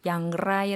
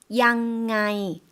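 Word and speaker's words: อย่างไร: 문법 적 으로 우리 는 그것 을 " 로 발음 해야 합니다 " 양라이 " 라고 하지만 , 이렇게 도 말 할 수 있습니다 . 좀 더 편안 하고 일상 적 인 대화체 처럼 들립니다 . 어떻게 발음 하나 요 ? " " 양아이 ". 남자 버전 도 들어볼까 요 ? " " 양아이 ". 예 . " 양라이 " 보다 훨씬 쉽다 ", 그렇죠 ?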